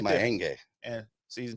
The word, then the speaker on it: Mayenge: My last name is Mayenge, Mayenge. Gotcha. You can check me out Pronounce right there. Mayenge.